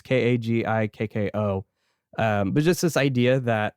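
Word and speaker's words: 鍵っ子: In Japanese, I think it's pronounced Kagiko. So it's Kagikko.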